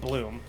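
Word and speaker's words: Blume: literally called Bloom uh spelled Blu M but pronounced Bloom um notic second thing is I noticed that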